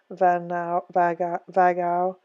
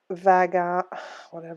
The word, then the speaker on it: Vaughan: Vagau, Beyond Ego. I said that wrong, sorry. Francis, I'll say it wrong again. Vaughan, V-A-U-G-H-A-N, has also written a valuable book, Awakening Intuition, about just that.